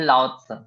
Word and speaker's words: Laozi: Philosopher बोला जाता है ताओइज्म का, ये थे लाओ त्से, LAOZI, लाओ त्से। ये सब PDF में मिल जाएगा। अभी बस प्रोनाउंसिएशन चाइनीज अलग है, इसलिए मैं इसमें चैट